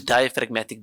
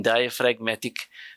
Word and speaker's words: diaphragmatic: There's a silent G in diaphragmatic, right?